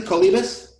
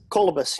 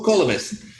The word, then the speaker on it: Kolibas: Kolibas? Kolbys, yeah. Oh, Kolbys. I had the wrong emphasis on the wrong syllable.